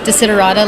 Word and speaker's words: Taya: social media sure well my name is actually pronounced deida like you said correctly people might know me